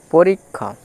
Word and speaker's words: পরীক্ষা: তারপর আছে দেখো পরীক্ষা, প রয়ে দীর্ঘেই পরি, কয়ে মূর্ধন্য ষয়ে আকার খা, পরীক্ষা।